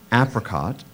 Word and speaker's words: apricot: There is an alternate pronunciation, apricot. Can you use it in a sentence, please? Dan's mom packed an apricot in his lunchbox as a snack.